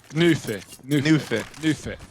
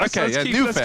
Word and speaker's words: Gnuffe: I think the difference in that video is oo instead of o. It's oo. Yeah. Ooh. Gnuffe. Let's try with that. Gnuffe.